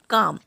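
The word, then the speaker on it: calm: यदि डी एफ के एम इनसे पहले एल आता है तो एल का साउंड नहीं आएगा, जैसे कि काम, यहाँ पर काल्म नहीं बोलेंगे, काम।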